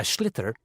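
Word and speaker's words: sliotar: this ball called a schlitter that's s l i o t a r so it's not spelled the way it's pronounced announced you hit it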